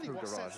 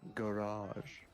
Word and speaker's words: garage: Oh, garage is the right way. Like carriage.